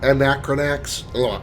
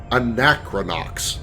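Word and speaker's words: Anachronox: And I just finished an Anacron Anacronax. Anacron. I saw I saw you playing it for a while. I can't pronounce that title. Anacronox.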